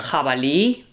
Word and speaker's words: jabalí: so it shares the same sound as the G when it's strong. So it's the J sound. Yeah. What's important to note is that we are talking about pronunciation here in Spain. In some other countries, the J will be a lot softer than it is here. Here in Spain, it's quite a strong sound.